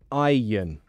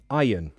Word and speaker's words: iron: in the thingy yeah aion iron so that's how i would say it we don't pronounce the r we don't pan out the we don't pronounce that so let's um let's